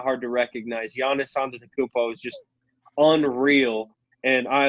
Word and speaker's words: Antetokounmpo: Bucks fan, Jackson, Giannis Antetokounmpo. That's what I'm saying. No, you're going a P on the end, and then actually It's not Anta at the beginning. It's Antetokounmpo.